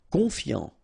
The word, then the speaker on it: confiant: Confiant, okay, final T not pronounced, so O-N, on, I-A-N, ian, confiant, confiant. Attentionné, okay, at the end